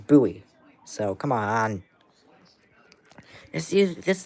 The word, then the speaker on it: Bowie: It's Buoie Maryland, not Bowie, Maryland. I always thought it was Bowie, but it's not. It's buoy.